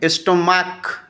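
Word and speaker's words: stomach: কয়েকটা উদাহরণ দেখি এখানে স্টমাক স্টমাক্স এস দিয়ে প্লুরাল করেছি কেন বলতো এখানকার সি এইচ এর উচ্চারণটা ক এর মত হয়েছে কার মত হয়েছে ক যদি কোন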